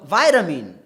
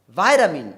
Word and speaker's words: vitamin: And lastly, if I say, I took some vitamin pills. I took some vitamin pills. Vitamin, V-I-T-A-M-I-N. Vitamin pills. That is more oriented towards the American way.